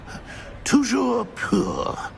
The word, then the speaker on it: toujours pur: Toujours pur.